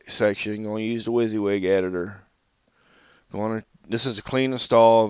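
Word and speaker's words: WYSIWYG: So, we're going to add the Wizzywig directory, and it's spelled WSI WY G.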